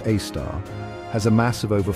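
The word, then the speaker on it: Sagittarius A*: Our galaxy's central black hole, Sagittarius A, pronounced A star, has a mass of over 4 million suns.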